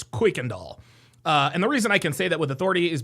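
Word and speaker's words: Kuykendall: And by the way, a lot of people pronounce this Kirkundall. It's not pronounced Kirkandall, it's Quickandall.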